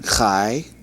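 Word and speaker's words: חַי: Words with the last syllable having a sound of IE, as in the word tie.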